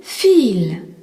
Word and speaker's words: viel: C'est pareil dans le mot viel, V-I-E-L, qui signifie beaucoup. Le I-E est un I long et le V se prononce feu. Viel.